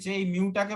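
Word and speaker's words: mu: হ্যাঁ, এর উচ্চারণটা হচ্ছে মিউ, এম ই ইউ, মিউ, ঠিক আছে?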